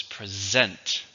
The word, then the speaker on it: present: as in here now one of the differences in the stress pattern this one has a stress on the second syllable and it has thus uh so it's not present its present present please present your